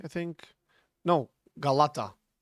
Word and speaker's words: Galata: And you just pronounce it K, I think. No, Galata. It's not a K or or a C, it's a it's a G. It's a Galata tower.